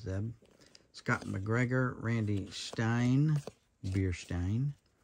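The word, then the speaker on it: Zdeb: The D is silent, I believe, not Zeb. It's just Zeb.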